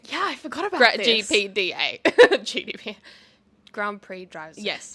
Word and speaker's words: GPDA: GPDA. GDPA. Grand Prix Drivers. Yes. GPDA. I always say GDPA. I just realized that I've been saying it wrong forever.